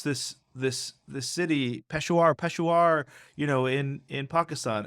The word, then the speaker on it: Peshawar: do you pronounce this this the city Peshawar peshuar you know in in Pakistan and I'd you know turn along you pronounce it for shower and he looks at me he's like well